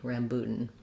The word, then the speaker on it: rambutan: uh again the letter a in rambutan uh sounds like the ah black cat so there's maybe a little bit of secondary stress there because it is a clear vowel and then this last syllable is very short we don't do anything for that a rambutan okay thank